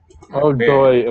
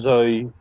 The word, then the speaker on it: dói: Dói, of course. My brain saw that and said Zoe. Reading it like it's Vietnamese. The only appropriate response is dói.